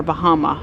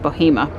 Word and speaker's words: Bahama: at Lake Michie near Bahama. I think that's actually pronounced Bohema.